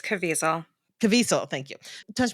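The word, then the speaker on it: Caviezel: plays Tim Ballard is Jim I can never pronounce his right name it's cavel cavel thank you tou M do you know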